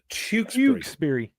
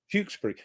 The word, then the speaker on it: Tewkesbury: I got uh So, it's Tukesburg. Tukesbury Tukes Tukesbury. Tukesbury. See, relax the mouth. You know, we're very sort of lazy speakers, you know, Birmingham.